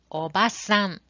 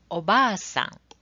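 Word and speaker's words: おばあさん: You can see a word obasan on the left side. This means aunt. How about the right side? This is Oba-san. Oba-san. You can see long vowel in a word.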